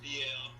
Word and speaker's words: Fiel: It's pronounced FIEL, and it's like Spanish for loyal.